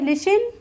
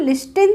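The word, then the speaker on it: listen: T silent होगा मतलब टी को हम प्रोनाउंस नहीं करेंगे उच्चारण नहीं करेंगे एई लिसन लिसन बोलते हैं ना इसको लिस्टिन तो नहीं बोलते हैं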